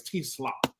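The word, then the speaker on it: TeSlaa: Yeah, I gotta say his name right. It's T-Slaw.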